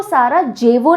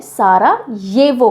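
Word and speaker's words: Sarajevo: capital is सारा येवो इसको सारा जेवो नहीं बोलते हैं सारा येवो कहा प्रोनाउंस किया जाता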